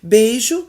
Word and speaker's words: beijo: Beijo, o ditongo ei não é aberto.